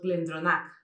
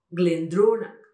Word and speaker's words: Glendronach: os vais a encontrar, que son palabras planas. Quiere decir que nosotros normalmente diríamos Glendronach, o también podríamos decirnos un caso de un Glen, pero es lo mismo, Benromach. Y no es así, es Benromach, Glendronach.